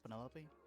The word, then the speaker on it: Penelope: Is that short for Penelopey? Officially, yes, but I never can be bothered with all four syllables of it.